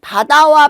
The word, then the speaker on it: 바다: 어 그래서 질문을 주신 바다와 파다를 가지고 어 얘기를 해 볼게요. 바다는 입술을 부드럽게 움직이고 바람이 나오지 않죠.